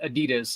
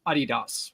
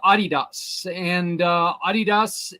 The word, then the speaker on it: Adidas: company aha even though it's called it's not Adidas it's Adidas but oh okay yeah it's actually pronounced Adidas and Puma were started less by the same